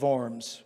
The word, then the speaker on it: Worms: And so it looks a little weird to speak of the diet of Worms, or the Diet of Worms, as it's pronounced in Germany, in German.